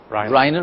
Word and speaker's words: Reiner: Is that how I pronounce it, Reiner? Reiner.